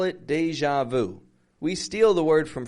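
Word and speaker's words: déjà vu: that this felt like deja vu to George deja vu deja vu it's French to say I've seen this before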